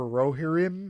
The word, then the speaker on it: Rohirrim: This is the War for Rohirrim, I believe is how it's pronounced.